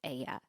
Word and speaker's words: Aija: Aya maybe helps the pronunciation. It's Aija, but I believe Aya is how you would say it.